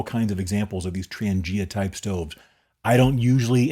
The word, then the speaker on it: Trangia: the most over the years is called the Transangia. That's spelled T R A N G I A.